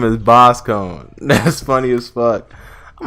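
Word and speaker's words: Boscogn: Visconj is pronounced Boss Cone in the anime. It's French or something.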